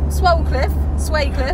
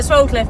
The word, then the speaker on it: Swalcliffe: Horse Trial Championships at Swalcliffe. We call it Swalcliffe, but apparently it's Swalcliffe. The L is silent. Yes.